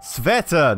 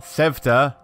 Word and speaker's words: Sveta: By the way, when I say Sveta, and people go, no, it's pronounced Sveta, not Sevta.